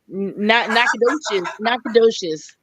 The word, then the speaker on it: Nacogdoches: Can you tell everybody how to pronounce that word? Oh, Nacogdoches. Yeah, there you go. Come on, Nacogdoches.